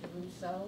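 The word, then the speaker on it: Desruisseaux: My last name is pronounced DeRusso.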